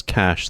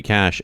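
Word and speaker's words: cache: It's it's a the ch at the end is pronounced like an sh.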